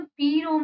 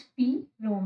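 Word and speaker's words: PROM: पी रोम stand for programmable read only memory and pronounce पी रोम नॉट प्रोम। इसको पी रोम कहते हैं, ना कि प्रोम कहते हैं।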